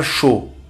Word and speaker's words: chaud: A U é um som muito fácil, pronuncia-se como O. Um O fechado, né? O.